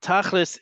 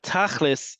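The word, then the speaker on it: תכלס: But tachlis is the Ashkenazi pronunciation of the word tachlit, and that is spelled this way.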